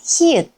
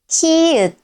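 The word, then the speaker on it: 히읗: And the last basic consonant is hi-eut. Its name is hi-eut, hi-eut.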